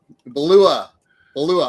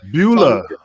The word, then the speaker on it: Beulah: Belula. I could never pronounce it correctly, but Beulah. Dreamer, what? Say it. Beulah McGillicuddy. Belua. It's not beluga caviar.